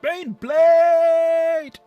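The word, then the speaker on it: Baneblade: It's pronounced Bane Blade.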